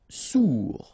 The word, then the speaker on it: sourd: Sourd, final D not pronounced, O-U together, ou sourd.